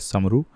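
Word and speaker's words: Sombre: The word सोम्ब्रे was locally pronounced as समरू।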